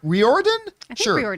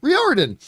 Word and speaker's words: Riordan: author Rick rhodians I don't know how to pronounce his name uh best-selling novels uh reor Riordan Riordan an executive producer of the series announced the